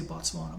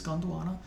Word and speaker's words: Gondwana: There are only 2 tracks, Zimbabwe and Gondwana. I always want to say Botswana, but it's Gondwana. In Zimbabwe, Miles and Company performs Turnaround Phase, and Gondwana includes snippets of Ife and Mr.